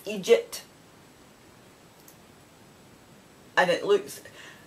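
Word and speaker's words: eejit: It's Egypt. And it looks, how it's pronounced is when you see it, it's E-E-D-J-I-T, right? But it's pronounced Egypt as in E-E-G-I-T, and it means idiot.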